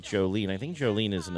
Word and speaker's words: Jolene: That's Jolene, like the song.